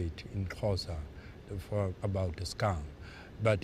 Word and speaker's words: Xhosa: said in his language which is pronounced casa which is a South African dialect he said the skunk